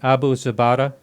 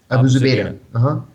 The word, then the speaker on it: Abu Zubaydah: Could you talk about, I'm going to try to say his name right, Abu Zubaydah? Abu Zubaydah.